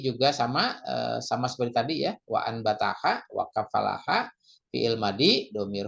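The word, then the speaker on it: وأنبتها: Berikutnya wa anbataha ya, kalau biasa yang membaca iklab ya, ini ada mim kecil di atasnya. Jadi nun mati bertemu ba, jadi bacanya iklab wa ambataha ya.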